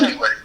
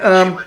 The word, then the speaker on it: Cawood: Now, did I pronounce the last name right? Is it Cawood? Cawood. Okay. And Cawood, yeah.